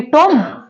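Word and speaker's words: tomb: यहां पर क्या है यहां पर बी साइलेंट है नेक्स्ट लेटर में इसको क्या पढ़ेंगे टोम टोम नहीं पढ़ा जाता इसको टोम नहीं पढ़ा जाता इसको पढ़ा जाता है टूम टोम नहीं टूम ओनली टूम टम नहीं अब नेक्स्ट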